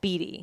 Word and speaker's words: Beatty: Beatty. Yeah. Too close to Bieber for my. See, the thing is, he pronounces his name wrong. It's spelled Beatty. Like Warren Beatty. But he pronounces it Beatty.